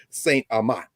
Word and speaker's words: St. Amant: Rouge, and of course our brother Malcolm Reed, St. Amant.